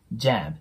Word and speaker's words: jam: になるんでジャムって発音するよりもちょっと伸ばしながらアート絵を混ぜて JAM て発音してもらうと綺麗に聞こえますでその後が the